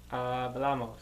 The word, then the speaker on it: hablamos: Hablamos. Hablamos. Hablamos. Good. So, with amos, we're adding on 2 syllables, and the accent is going on the second last syllable.